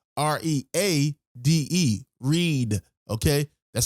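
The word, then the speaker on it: Reade: name is spelled tara t-a-r-a her last name is spelled r-e-a-d-e read okay that's how you spell her last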